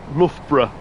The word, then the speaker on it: Loughborough: So Loughborough next up. Or should I pronounce that Loughborough? That's me Midlands accent, that is.